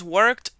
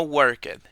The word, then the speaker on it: worked: que la pronunciación es worked y no worked Por lo general cuando pronunciemos el verbo en pasado la letra e no sonaría y se terminaría la palabra con un sonido de d o t por ejemplo i worked